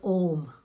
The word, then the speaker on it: Om: oh if you see it's ohm is the original sacred syllable it comes from three words uh-oh mmm oh so